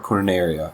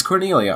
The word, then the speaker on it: Cornelia: like a voluntary thing Coria Cornelia Cornelia or corneria I thought it was cornia I cannot tell let's see Cornelia it's Cornelia I'm so sorry that I've been saying it